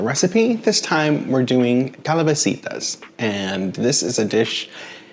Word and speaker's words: calabacitas: me about my uh saying it the proper way so calabasitas is how it should be pronounced so let me bring